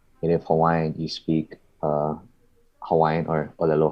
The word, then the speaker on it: Hawaii: I've heard Hawaii, or that's the if you're saying, I believe if you're saying it in like a native Hawaiian aspect, it is Hawaii because the W is pronounced as a V.